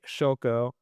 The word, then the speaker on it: Szylko: Uh that's the old Eastern European way.